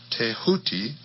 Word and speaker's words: Thoth: ibis-headed scribe of the gods Thoth, pronounced Tehuti.